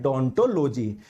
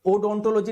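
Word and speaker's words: odontology: का अध्ययन कहलाता है डोंटोलॉजी। इसकी स्पेलिंग ओ से शुरू होती है, तो उसको ओडोंटोलॉजी नहीं बोलेंगे, डोंटोलॉजी बोलेंगे। जब इसको ये वर्ड बोला जाता है तो ओ आपका साइलेंट रहता है, ठीक है।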